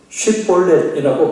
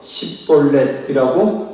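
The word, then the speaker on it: שיבולת: 만일 아니라고 말하면 쉿볼렛이라고 발음을 해보라고 합니다. 왜냐하면 에브라임 사람은 쉿볼렛이라고 발음을 하지 못하고 십볼렛이라고 발음을 하기 때문이라는 거예요.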